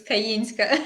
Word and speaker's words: Kayinska: and I will correct you my surname is kayinska I know it's difficult to pronounce but yeah it happens it's a beautiful